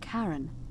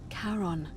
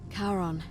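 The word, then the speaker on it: Charon: it's just as you described it only your pronunciation is a little off the name you heard wasn't Karen it was c h a r o n as in karon the Fairman of the Dead karon who in exchange for the right coin helps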